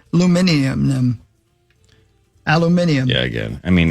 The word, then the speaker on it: aluminium: And that is correctly pronounced aluminium.